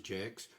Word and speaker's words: Jaques: And if you don't pronounce it as Jakes, you miss other puns.